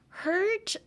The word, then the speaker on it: hurt: Like, hurt feels like I'm trying to speak with like a ginormous boba straw, like a tapioca straw.